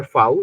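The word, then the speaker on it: Frau: तो मैन को मान, बोलता है मान, वुमेन फाउ, को बोला जाता है फाउ या फगाउ, फाउ ज्यादा यूज होता है, फाउ आर को साइलेंट, ये हल्का सा रोलिंग साउंड ग।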